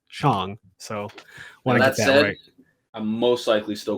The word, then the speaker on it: Shang-Chi: that but thankfully i now know how to pronounce it correctly and it's not shang it's chong so i'm most likely still going to say